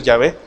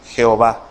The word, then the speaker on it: Yahvé: O Yahvé. Algunas Biblias, como las Biblias católicas, utilizan el nombre Yahvé. ¿Se ha fijado? Yahvé, el Señor. Es correcto decir Yahvé, al igual que es correcto decir Jehová.